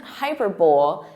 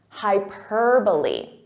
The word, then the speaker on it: hyperbole: So this isn't hyperbole, it's hyperbole. Hyperbole. So listen to that syllable stress, hyperbole.